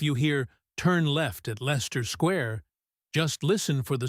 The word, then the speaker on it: Leicester: Or Leicester Square, pronounced Lester Square.